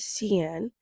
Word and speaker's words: Cenne: My name is Cenne. It's pronounced like, but you just got to cut off the last and this is my broker blueprint.